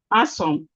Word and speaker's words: handsome: Handsome. Handsome. The D is silent.